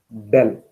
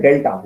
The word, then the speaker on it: del: This is pronouncing as del. Written like this. Del operator. Differential operator is a del operator. Okay, del, pronouncing as del, writing as like this. Don't write delta. Delta is different. Delta is ulta. Okay, reverse way. Okay, it is not delta, it is del.